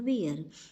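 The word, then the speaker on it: bier: बियर का मतलब बेटा अर्थी होता है। दोनों की स्पेलिंग डिफरेंट है, दोनों के मीनिंग भी डिफरेंट हैं, बट प्रोनाउंसिएशन सेम है बेटा।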